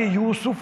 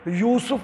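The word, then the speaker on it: یوسُف: ٹھیک نہیں ہے، داود۔ حضرت یوسف کو بھی ہم یوسف بول دیتے ہیں، سین کے اوپر زبر بنا دیتے ہیں، حالانکہ یوسف لفظ ہے، یوسف نہیں ہے۔ یونس کو ہم یونس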